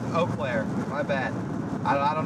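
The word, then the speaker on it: Eau Claire: Wait, it's pronounced Oaklair. Okay. Near Oaklair.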